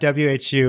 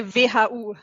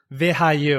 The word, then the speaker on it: WHU: So I'm pronouncing it wrong. It's not WHU. It's the English pronunciation, which is totally fine, but we usually pronounce it in a German way, which is also cool. So we would say WHU.